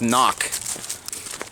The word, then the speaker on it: CNOC: CNOC, I believe it's pronounced knock.